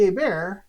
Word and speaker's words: Hebert: There's a whole Seinfeld skit about Bobby Hebert when George is trying to impress a woman by saying, Bobby Hebert, the T is silent.